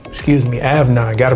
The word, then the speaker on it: Afnan: Avan. Excuse me. Avan. Got to pronounce it right.